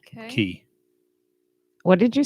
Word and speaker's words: cay: Key. What did you say? Key. Like KEY. It's No, pronounced spelled it how? CAY. Oh, key. It's K. pronounced key, not K.